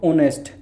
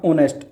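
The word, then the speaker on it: honest: इसको बोल के देखो ऑनेस्ट ह साइलेंट हो जाएगा ऑनेस्ट ऑनेस्ट ओ ओ क्या होता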